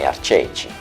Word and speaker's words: Arceci: Or Arceci, which is the right way to say that.